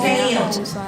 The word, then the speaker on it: failed: And then failed. I failed. Right, it's a diphthong. Failed. Now because the L is voiced, the E now just sounds like a D, right? Not an extra syllable.